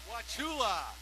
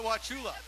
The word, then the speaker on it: Wauchula: and where is Troy out of Kirk Florida wachula is that right Wauchula now we're just going to get the pronunciation correct thank you is that like Chattanooga